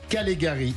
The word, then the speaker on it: Callegari: avec nous Madame Sabine Calegari. J'ai bien prononcé? Parfait. Voilà. À l'italienne. Voilà, à l'italienne, mais c'est plus du Nord.